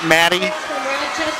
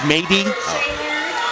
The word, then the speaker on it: Mady: We know it's not Maddie, it's Mady. Mom corrected me today. We're happy to pronounce it properly.